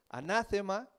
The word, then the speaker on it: anatema: Esta palabra del griego que se escribe y se pronuncia muy parecido como está en español es anátema.